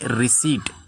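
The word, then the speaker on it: receipt: पहला वर्ड है रिसीट। इसे हम रिसिप्ट नहीं पढ़ेंगे क्योंकि इसमें पी जो लेटर है वो साइलेंट है।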